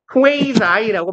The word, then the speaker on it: quasi: 발음이 이상해요. quasi라고 발음을 하고요.